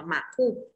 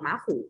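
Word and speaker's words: 马虎: Ừ, từ đọc là mạc khu. Cái từ khu đằng sau thì người ta hay đặt thanh nhẹ nhiều nên sẽ đọc là mạc khu nhé. Đừng đọc má khu, đọc là mạc khu đi.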